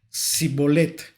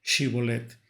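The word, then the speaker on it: שיבולת: la palabra shibolet la palabra shib sino que pronunciaban la palabra sibet bueno esta palabra es una palabra hebrea que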